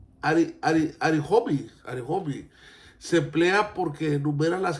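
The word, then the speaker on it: Ἀριθμοί: El título Números es griego. Se pronuncia Arihomi.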